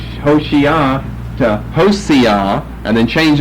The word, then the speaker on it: Hoshea: We know him by the name Hosea. Well, that's because of this problem right here. You know, there's a difference between that and that. One is an S and one is an SH.